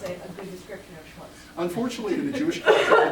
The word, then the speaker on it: schmutz: Is it schmatz? Schmutz. Is it CHAM? ETZ? How's that pronounced?